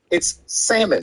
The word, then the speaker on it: salmon: black people black people that L and salmon is silent it is not salmon it's salmon it's salmon correct and then the last one